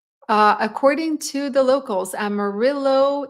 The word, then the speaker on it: Amarillo: according to the locals Amarillo is the English pronunciation not the Spanish pronunciation Amarillo versus Amaro yeah it